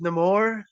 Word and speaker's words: Namor: So his name, he's Namor. Namor. Okay. It made sense to how why it's pronounced Namor in the movie without giving I, away.